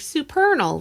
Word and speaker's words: Supernal: That's actually, we were called Supernal. So kind of a funky name. People would always get it wrong. But our third record, we called it Rhymes with Eternal, because that was the way we could get people.